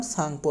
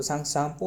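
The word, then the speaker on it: Tsangpo: यानी तिब्बत में तिब्बत में इसका नाम सांगपो रहा है। सांगो सांगपो का spelling T एस ए एन जी पी ओ सांगपो है ना।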